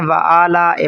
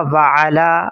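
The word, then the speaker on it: وَعَلَىٰ: ہے وعلی عباد اللہ، اکثر لوگ اس کو پڑھتے ہیں وعلی عباد اللہ، یہ غلط ہے، درست تلفظ ہوگا وعلی، عین کی آواز واضح نکالیں گے، وعلی عباد اللہ الصالحین۔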